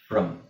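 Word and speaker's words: from: director motor ಟ್ರ್ಾಕ್ಟರ್ ಇದಲ್ಲ ಫ್ರಮ್ ಫ್ರಮ್ ಎಫ್ ಆರ್ ಓಎ ಇದು ಈ ಅ ಸೌಂಡ್ ಹೇಳಬೇಕು ಫ್ರಮ್ ಓಕೆ ನೆಕ್ಸ್ಟ್ ಎಂಟನೇದ ಆಯ್ತಲ್ವಾ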